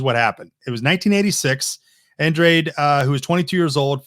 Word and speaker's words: Andrade: you don't it's Android Billy Andrade no no you don't read I mean it's phonetically exactly looks like that and sounds like that I guess it might